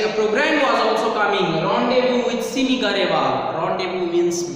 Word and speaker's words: rendezvous: Rendezvous with Simi Garewal. Rendezvous means meeting. Okay, so it is RENDEZVOUS. Rendezvous. The correct pronunciation is rendezvous.